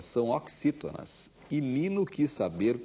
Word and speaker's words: oxítona: na última sílaba são oxítonas lino que saber como se pronunciava aqueles como se fosse cs o ano letivo estava